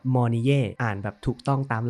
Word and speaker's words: Mornye: ก่อน นะ ครับ ว่า ตัว ของ ชื่อ นี่ เนี่ย จริง ๆ ทราบ แล้ว ว่า อ่าน ว่า มน่ อ่าน แบบ ถูก ต้อง